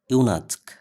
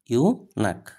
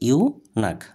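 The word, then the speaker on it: eunuch: একজন মানুষ যে কি সেক্সুয়াল অর্গান ছাড়াই থাকে তাকে বলা হয় ইউনাসক। ইউনাক। উচ্চারণটা হচ্ছে ইউনাক।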